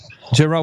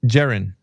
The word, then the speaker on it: Jaron: Geron. Why does everybody get his name wrong? We heard Jared and Geron. It's Jaron. Jaron.